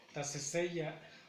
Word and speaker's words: taseseya: Taseseya, taseseya, taseseya. El acento lo pronunciamos, la acentuación la lleva en la cuarta sílaba.